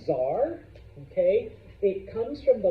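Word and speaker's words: tsar: sense with one of the C's okay it's pronounce Zar okay it comes from the Latin word Caesar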